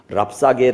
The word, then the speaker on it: 랍사게: 우리가 읽은 성경에 보니까 랍사게 아고 하는 사람이 사람 이름을 좀 외워 두세요 랍사게 잽싸게 약삭 빠르게 뭐 그런 뜻인 거 같아 그 이름 발음이 랍사게 아는 사람이 나오는데 말을